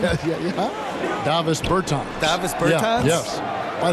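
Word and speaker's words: Dāvis Bertāns: Oh, well now, at this point in my life, it's Davis Bertans. Is that how you say his name? Yeah. Davis Bertans.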